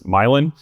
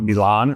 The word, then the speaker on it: Milan: We actually pronounced this Milin. So, we're going fancy today. We're going to Milan right now.